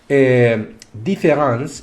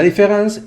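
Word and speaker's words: différance: Lo que pasa es que desde el punto de vista fonético no hay diferencia entre escribirla con E o escribirla con A.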